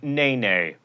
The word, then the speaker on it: NeNe: member of the real housewives of atlanta who pronounces her name nene meredith tells me and speaking of memes it's